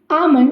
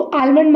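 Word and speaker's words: almond: आमलंड इसको आलमंड मत बोलिएगा। आमलमंड एल इसमें साइलेंट होता है।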